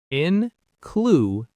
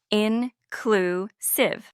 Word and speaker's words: inclusive: Incliv. The stress is on the middle syllable. Clue. Let's practice together. Listeners, repeat after us. Incliv.